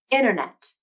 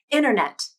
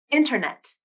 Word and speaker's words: internet: internet wanted i didn't pronounce the t sound instead i used what is called a nasal flap which is essentially when